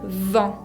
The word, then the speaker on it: vent: Se tiene que exagerar mucho esa labialidad de la V. Vent. Es distinto pronunciar vent con V corta y vent con B larga, ¿no? Vent, vent. Uno es viento y el otro es banco.